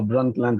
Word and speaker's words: Brundtland: And that was in 1987 at the UN conference at the during the Brundtland. Sorry, this one is always difficult for me to pronounce because of the D. So Brundtland report in 1987.